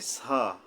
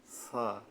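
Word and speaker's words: ث: যে তিনটা নুক্তা থাকে তো ছা এর উচ্চারণ করতে গেলে জিহ্বার আগা উপরের মাঝখানের দুই জাতের আঘাত থেকে নরমভাবে আদায় হবে শক্ত নাই এখানে বলে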